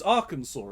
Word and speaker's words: Arkansas: Bureau's attention after a hospitalized mailman from redacted Arkansas claimed his injuries had been caused by a movie camera. Further investigation... Did you say Arkansas? You're not right. You're not wrong. I did. It's Arkansas, isn't it?